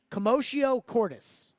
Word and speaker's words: commotio cordis: Also, it's pronounced commotio cordis.